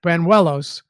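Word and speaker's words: Bañuelos: mentioned it Burnett Banuelos wanted to go back and get that pronunciation that's how the announcer said it Banuelos I understand that you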